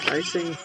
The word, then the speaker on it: Freising: Freising. Second I is what picks up the pronunciation.